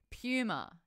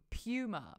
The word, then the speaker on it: Puma: Puma. Yeah, Puma. Pew, pew, pew, Puma. Not Puma. It's not Puma. It's not like your mum did a turd. It's not Puma. It's Puma.